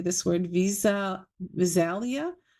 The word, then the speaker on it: Visalia: Visalia. Viselia. Visalia. California. Hello. Hi, Evelyn. How are you? I'm great. Yeah, it's Vicelia, California.